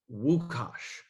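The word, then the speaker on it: Łukasz: Everyone wants to say Lukas, but it's pronounced Wukash.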